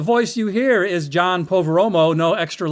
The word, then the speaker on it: Poveromo: name that's right so poveromo it's yeah yeah it's kind of is pronounced the way it looks once you think about it for a second it's a very phonetic name it's never that hard